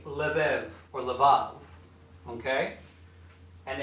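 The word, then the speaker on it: לב: you'll say you'll see lev and you'll say lev or levav okay and it's pronounced same letter as here sorry about that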